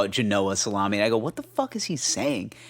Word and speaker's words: Genoa: the wood board if you got a nice Genoa salami janoah Genoa salami my uncle used to call it Genoa salami I go what the